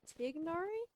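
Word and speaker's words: Tighnari: I love dianari's voice technically speaking um to pronounce his name would be tignari but I'm just gonna say tainari because it just feels right I guess sorry Master hi now the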